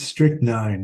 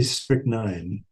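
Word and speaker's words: strychnine: off stricken stricken in it's strick nine is how it's usually pronounced but you know if you're rhyming oh in Russian it's strick oh yeah maybe it makes more rhyme but usually they would say strict nine at least that's how I heard it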